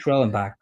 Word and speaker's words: Schwellenbach: Schwellenbach.